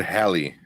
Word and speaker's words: Halle: Yeah, because I heard Hallie. But everyone, people said Halle because they saw it next to Halle Berry, and they see her spelled the same way, and they just kind of that's what they do.